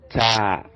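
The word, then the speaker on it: تاء: And the next, which is this, is called ta, as in table. So the T sound, table, ta, table, ta.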